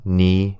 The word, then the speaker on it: knee: Silent P for receipt, psychology, and silent K for no, knee, knife.